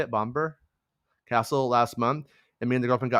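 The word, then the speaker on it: Bamburgh Castle: Mark says, "I was at Bomber Castle is how you say it, Bomber Castle last month, and me and the girlfriend got pics of the set.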